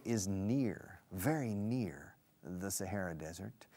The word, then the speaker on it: Sahara: There's more sunlight because Morocco is very close to the Sahara Desert. In Spanish, el Sahara. In English, Sahara. Es un H. The Sahara Desert. El H se pronuncia, eh? Se aspira.